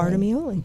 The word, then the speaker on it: Bartolameolli: Well, you said a friend said it rhymes with part of me only. Yeah, Bartolameolli. So, Bartolameolli.